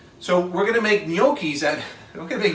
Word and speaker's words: gnocchi: Which people really have a wonderful time pronouncing, by the way, because it's spelled with a G. So everybody goes gnocca, gnocchia, gnocchi. It's gnocchi. Gnocchi.